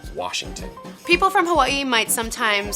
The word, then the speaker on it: Washington: the older generation, and it's Worshington. And all of the youngins, we say, no, it's Washington.